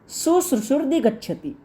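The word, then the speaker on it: शुश्रूषुरधिगच्छति: ये जो लास्ट में शब्द आया है, इसका उच्चारण आप इस प्रकार से करेंगे, शुश्रूषुर्दि गच्छति।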